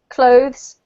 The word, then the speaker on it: cloth: all have the O cloth has the O can you hear that yes than you the spelling is very off-putting because you have this word right next to it right um so cloth is the same vowel sound as the word off all right okay well